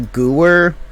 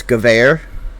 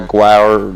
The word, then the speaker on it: Gewehr: Everybody called it a Gewehr, but in German it's Gewehr. Yeah, like a Gauer.